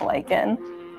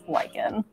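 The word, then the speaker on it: lichen: I don't know how of all the things I mispronounced there it's Lykan pH speaking of which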